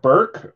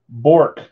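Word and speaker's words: Bourque: Tell me how you pronounce this name. Burke or... Did he win Stanley Cup? That's cool. Avalanche, nice hit. This is a custom Bork.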